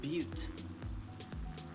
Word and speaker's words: Butte: So is B-U-T-T-E pronounced butte or butt? I would have said butte. Butte, Butte.